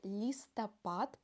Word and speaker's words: листопад: следующее словосочетание осенний листопад будьте внимательны в слове листопад последнюю букву Д мы произносим как Т это называется оглу ние согласной на конце слова осенний листопад не листопад